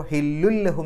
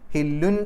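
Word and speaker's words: حل لهم: പൂർണമായിട്ടും ലയിപ്പിക്കുക മണിക്കാൻ പാടില്ല അപ്പൊ ഹില്ലുൽ ലഹും എന്നാണ് പറയുക ഹില്ലുൻ എന്ന് പറയില്ല ഹില്ലുൽ ലഹും അതുകൊണ്ടാണ് ലഹും എന്നുള്ളതിന്റെ ആ ലാമിന് ശദ് വന്നത് അവിടെ ഹില്ലുല്ലഹും ഹില്ലുല്ലഹും എന്നാണ്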